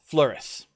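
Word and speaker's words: Fleurus: i actually struggle with flouris f-l-e-u-r-u-s the s is actually pronounced which is why it throws me fluoresce the french and the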